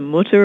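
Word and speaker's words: Mütter: is in Philadelphia it's people pronounce it differently but it's the motor or the mute or the motor and it just has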